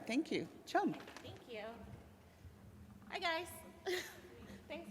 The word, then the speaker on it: Tram: The T-R-A-M part is pronounced chum, and I go just like chum, like C-H-U-M.